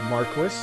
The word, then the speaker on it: Marquis: I've learned that it is pronounced Marquis, which I still do not like, but I guess I'll have to roll with it.